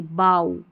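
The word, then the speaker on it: bough: इसको आऊ पढ़ेंगे। अब इसको बो नहीं पढ़ेंगे। बाऊ।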